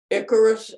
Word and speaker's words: Icarus: He puts a lot of detail, because it's one, you know, I like the one where the fall of Icarus, I-C-A-R-U, is that, did I pronounce it right?